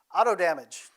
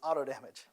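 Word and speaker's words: AutoDMG: the Imaging is done Auto damage it's exactly how the developer wants it pronounce is auto damage uh it takes an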